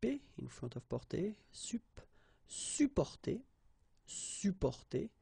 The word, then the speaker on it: supporter: You can also add this SUP in front of porter, sup, supporter. Supporter, you don't really pronounce the two or the double P here.